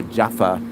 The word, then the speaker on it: Java: go to Java or Jaffa, as it's pronounced, actually, because I pronounce it Java, but the Javanese pronounce it Jaffa.